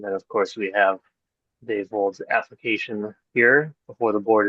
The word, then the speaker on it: Dave Vold: Let me make the motion if people don't have that at their beck and call, but this is a nomination for Dave Vold. I'm pronouncing that right?